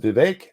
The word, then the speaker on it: Vivek: chatting with you guys I really do it's pronounced Vivek I know that's why I tend to say